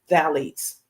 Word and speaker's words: phthalates: I don't know why it's PH there. Pronunciation is phthalates.